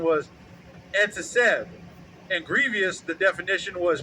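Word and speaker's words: עֶצֶב: And that pronunciation was etzesev.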